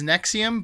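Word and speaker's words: NXIVM: person in this cult the cult is nexium but it's all spelled with capital letters and it's nxi vm who they've got the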